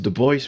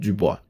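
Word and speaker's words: Du Bois: lessons on negritude writers but I know it's the boys because apparently he wrote Somewhere that his name should be pronounced the boys not du boy anyhow so WB boys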